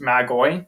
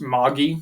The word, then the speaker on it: Magi: In the New Testament, it's actually pronounced Magoi.